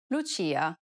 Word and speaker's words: Lucia: This sound is identical to the ch in church. The only difference, though, is that it's stressed even more in Italian than it is in English. Listen to the example.